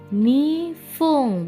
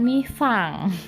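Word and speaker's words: にふん: Nih, 2 menit nifung bukan nifang ya. Hai. Oke, jangan sampai lupa ya, bahasa Jepang apa yang ditulis itu yang diucapkan, jadinya diucapkan nifung. 3 menit sampun.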